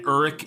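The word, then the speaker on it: Uruk-hai: But they do say Uruk several times, U-R-U-K. And then there's Uruk dash Hai, H-A-I, which is what Saruman sends that he creates in the movie.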